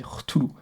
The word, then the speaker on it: Cthulhu: C'est un peu le proto Cthulhu, et je le prononce bien, on dit Cthulhu. Je pense que c'est ça.